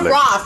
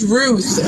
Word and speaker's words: Ruth: It's not Roth. It's Ruth. Okay, learn to pronounce the name correctly.